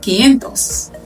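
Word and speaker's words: quinientos: So 500 pesos is pronounced gentos.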